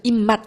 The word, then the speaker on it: 입맛: 자, 그리고 여기도 한번 볼게요. 입맛. 자, 일단은 처음에 이거이 맛의 시옷 시 음절 끝소리 규칙이에 따라서 어, 디귿 발음으로 소리가 나죠. 소리가 날 때는. 자, 그래서 아무튼 입맛 이렇게 한 다음에이 비읍,이 받침에 있는 비읍이 뒤에 있는 미음 때문에 어, 이제 소리가 미음으로 바뀌어서 납니다. 그래서 역시 비음화가 일어나는 현상이라고 확인할 수 있겠습니다.